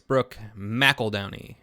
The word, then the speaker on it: Brooke McEldowney: the notoriously horny, and I realized I've been pronouncing this wrong, it's Brooke McEldowney.